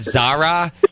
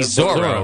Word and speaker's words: Zoro: and and JP also mispronounced the dog's name like he said Zara like zaro and it's it's obviously Zoro right like the dog's name is Zoro so I feel like